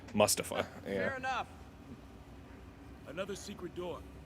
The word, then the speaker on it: Mustafa: that was dumb but instead of pronouncing it move stuff it's going to be pronounced Mustafa fair enough another secret